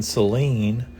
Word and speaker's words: Celine: So in Celine, we have what's called a soft C at the beginning.